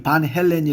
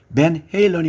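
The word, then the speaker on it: Van Halen: 손해를 본 경험이 있습니다 많은 분들이 여전히 반 헬렌이 부르는 유명한 팝락 밴드 또한 맨 헤일런이 맞습니다 라스베가스도 라스베가스가 아닌 라스베가스입니다 잠깐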